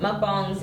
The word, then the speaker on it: mukbang: it's just pronunciation um because mukwang comes um from the Korean word well that is it's Korean it's mukbang um it's an eating show